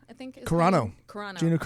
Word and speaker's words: Carano: Yeah, Gina Carrero, I think. Is Carano.